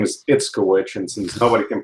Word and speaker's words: Itzkowich: How do you pronounce your second name? Itzkowich. Sorry, could you say that again? Sorry. Itzkowich, but since nobody can pronounce it, you can call me I, the LinkedIn guy.